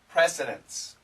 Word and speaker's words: precedents: so she has set precedents or she has set records now be careful of the pronunciation because it sounds the same as nce precedence and precedence d nce means order